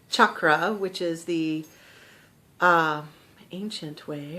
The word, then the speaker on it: chakra: really hard CH um that actually comes from ancient Sanskrit I've noticed something about myself that I keep trying to say chakra which is the ancient